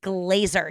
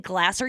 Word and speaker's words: Glaser: And those people that do go, oh my God, you don't even know how to pronounce my last name. It's Glaser. You've been saying Glaser.